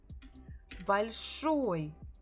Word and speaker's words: большой: Большой. Большой. What is большой? Что большой? On the picture we have пирог. Пирог. Большой пирог. Большой пирог. So we stress here the final syllable большой.